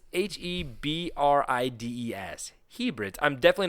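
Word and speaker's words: Hebrides: Are you trying to say hybrids? No, it's H E B R I D S.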